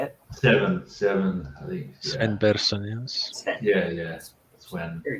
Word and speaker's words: Sven Persson: Sven Persson, yes.